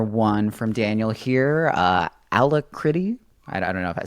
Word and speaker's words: Alacritty: from Daniel here uh ala critty I don't know if I said that right I pronounce it alacrity but I uh I